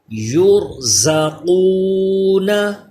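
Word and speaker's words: يُرْزَقُونَ: ہو۔ ترجعون۔ نیکسٹ پڑھیں یرزقون، را پر پڑھا جائے گا کیونکہ اس سے پہلے پیش ہے، زا پہ سیٹی پیدا ہو، قاف پر پڑھا جائے، حروف مستعلیہ ہے۔ یرزقون۔ ارجع، ارجع۔ نیکسٹ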